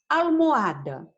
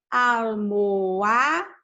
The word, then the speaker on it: almohada: Almohada, vamos ver, começa por A. Mas esse al é a sílaba tônica da palavra? Vamos pronunciar. Almohada. A sílaba tônica está aqui. Almohada.